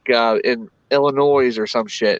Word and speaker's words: Illinois: always corrects me it's illinois and i piss her off because i'm like oh so you mean illinois she's like i'm like illinois well i guess the s is silent but i always say